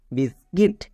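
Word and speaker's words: biscuit: যেমন BIS বিস, CUIT কিট, বিস্কিট। এই ওয়ার্ডটিকে উচ্চারণ করতে গিয়ে 99% লোক ভুল উচ্চারণ করে।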